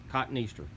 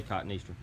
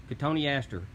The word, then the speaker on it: Cotoneaster: Cotoneaster. Don't say Cotoneaster. Cotoneaster parnyii. Now this one is also Cotoneaster parnyii, but it had all this growth coming out.